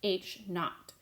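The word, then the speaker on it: H₀: So that H with the subscript of 0 is pronounced H naught.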